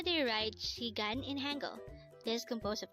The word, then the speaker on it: 시간: Korean again it's chicken how do you write shigan in Hangul this composed of two syllables for the first syllable she we need